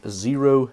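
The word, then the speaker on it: Xero: them these are from zero shoes the name zero is spelled with an X as you can see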